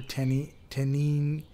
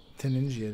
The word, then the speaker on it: Taningia: And then the genus is Tangia or Taningia. Yeah, okay, if you want to hit the hard G.